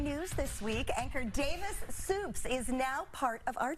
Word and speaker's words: Suppes: It's Suppes? Davis Suppes. That is how you pronounce it. Suppes. That's right.